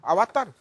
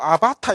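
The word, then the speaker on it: अवतार: 아와따르. 그래서 이 원발음이 아와따르인데 요새는 한글로 아바타 이래가지고 막 그 컴퓨터 용어로 쓰더라고요.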